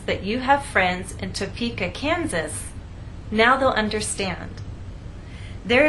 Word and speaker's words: Topeka: you can see that we stress the middle part of the word topa and here the